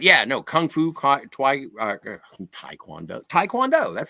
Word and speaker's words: Taekwondo: Blues Brothers but yeah no Kung Fu Taekwondo Taekwondo that's how you say it and uh yeah